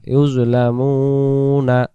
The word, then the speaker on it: يظلمون: ইয়া জপেশ ইউজ, লাম জবল্লা ইউজলা, মিম অপেশ মু, নুন জবন্না ইউজলা মুনা। উচ্চারণ হবে ثم توفى كل نفس ما كسبت وهم لا يظلمون ইউজলামুন বলে দম ছাড়িয়ে দেব।